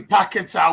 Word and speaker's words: Paquetá: I keep pronouncing it. Paquetá. Paquetá. Bloody Paquetá.